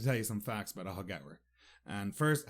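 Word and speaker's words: Aughagower: I'd like to tell you some facts about ahagawa and first how you spell it a u g h a g o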